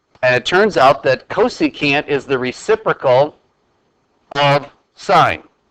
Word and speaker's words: cosecant: a function called cosecant cosecant is how you pronounce that we abbreviate that csc for cosecant notice that we don't